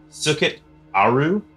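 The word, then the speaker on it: Sekhet-Aaru: the Egyptian afterlife and forgive me for pronouncing this way sukit aru which is spelled s k h e t- a a u so good luck you guys can try to pronounce that at home it's very tough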